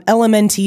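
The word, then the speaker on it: LMNT: I'm unsure element um elemente is how they spell it but they call it element Rob wolf invented that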